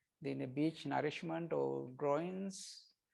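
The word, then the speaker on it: groyne: this is that's the groin here right and that the term is different rights this is gr o y n is growing but we pronounce it same right it's groins gr oin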